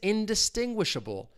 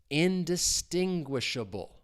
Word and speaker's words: indistinguishable: So if something is indistinguishable, you're not able to identify the difference or understand if you know things are distinct. The stress is on that third syllable. Indistinguishable.